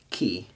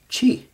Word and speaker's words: Chi: what we say I they say key and the RO is we say X and they say Rho so this is called key fro and key is where we get the word Chi which is spelled the exact same way she refers to life